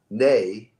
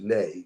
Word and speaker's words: Ne: Okay, and the name of this band is Nay. I'm not even sure. I think people pronounce it Nay.